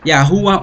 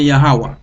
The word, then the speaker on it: YHWH: Là où est YHWH, c'est soit Jéhovah ou bien Yahweh, c'est même nom en hébreu, il prononce Yahuwah ou bien Yahweh.